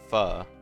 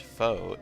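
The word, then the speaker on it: pho: The dominant English pronunciation fu however mirrors the Vietnamese one though the anglicized foe is accepted too.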